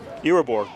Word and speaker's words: Irabor: How are they pronouncing number 20's last name? Irabor.